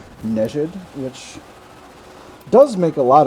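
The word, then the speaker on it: Nejd: I've been pronouncing that area that just came up on that nade for a while, but one of my friends just alerted me that it might actually be called Nejid, which does make a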